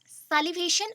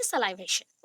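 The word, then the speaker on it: salivation: सैलिवेशन और सलाइवेशन, that is called, सैलिवेट भी बहुत बोलते हैं, या फिर सलाइवेशन. Correct pronunciation is सलाइवेशन.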